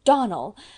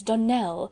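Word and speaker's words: Donnell: "Clarice Almmyra told me that you pronounced our name Donald. Now, Miss Shirley, the correct pronunciation of our name is Donell, accent on the last syllable.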